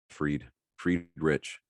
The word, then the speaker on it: Friedrich: It's pronounced Fried Rich. Fried Rich. Is it really? It's like Fried Rich. It's spelled exactly like fried and rich.